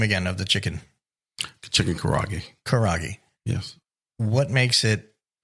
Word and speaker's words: Karaage: Just pronounce the name again of the chicken. Chicken Karaage.